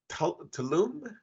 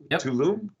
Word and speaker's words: Tulum: really good answers loved it have fun and tulum exactly you said it right pretty nice right tulum yup yup uh sorry i'll miss you on